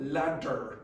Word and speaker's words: ladder: The duh because it's between an a and a n is becoming v lad. You don't want ladder. You want ladder.